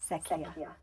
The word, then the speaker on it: Secchia: Secchia. Secchia. Okay. So, see, I was almost gonna say it the wrong way. It's difficult. And that is Italian, right?